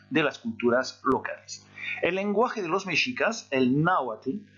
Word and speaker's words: lengua: Là, par contre, quand vous avez un G-U-A ou G-U-O, le U se prononce.